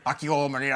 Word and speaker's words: Akio Morita: I say like Akio Morita, and then he's like Akio Morita. I'm like, all right. I go with Ben. I trust Ben.